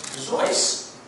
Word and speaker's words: Seuss: Seuss so first off his name should be pronounced Seuss so this is real Middleton is Germanic dirty rapp dirty it's from Germany as probably pronounced voiced by boss now he obviously got over the